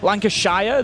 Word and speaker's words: Lancashire: Just like Shia like Lanc I'm from Lancash. Lancashire. The North Americans tend to pronounce the sh um that's more of a sh.